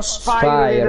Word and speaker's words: Spyro: Sì, si pronuncia Spiro perché sarebbe tipo latino, una cosa del genere.